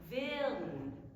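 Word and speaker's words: ווילן: and Stern in Yiddish, it's actually a 2-syllable word. Wiln, Stern. Wiln, Stern. So you achieve that by elongating the first syllable and then making really quick work, moving right through the L to get to the N.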